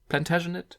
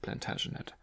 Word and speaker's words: Plantagenet: Do I pronounce it right? Plantagenet? Platin? I'm sticking with Plantagenet.